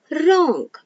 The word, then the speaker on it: wrong: w words so here when w and r come together the then w is silent for example wrong so here when w